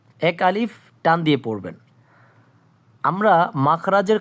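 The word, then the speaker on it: ألف: আলিফ একটু দ্রুত উচ্চারণ হবে। আলিফ এবং মুখ থেকে একটু হাওয়া বের হবে। বাতাসের মত বের হবে।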